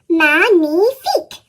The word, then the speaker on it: magnifique: Magnifique, I say. That's French for magnificent. You say it like this. Magnifique.